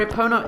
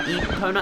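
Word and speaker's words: Epona: it automatically so yeah there's also a couple of pronunciations for aona aona and eona and I did that wrong aona or eona but I'll probably switch between the two but I personally prefer aona I think I don't know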